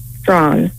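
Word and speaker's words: Strachan: r a e h a n how you pronounce that strong s-t-r-a-c-h-a-n yes the structure stretching it can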